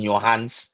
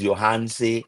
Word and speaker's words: Yohance: Uh, We saying Johans. yeah, Then the man. man tell us is Johanse.